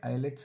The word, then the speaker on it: islets: as eyelets of langerhans this s is silent here so they are called as islets of langerhans these cells